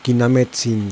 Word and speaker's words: Quinametzin: Quinametzin is meaning giant but in spanishing this word, it ended up as grave word (stress in one before last syllable word) Rules say spanish words are agudas, graves and esdrújulas.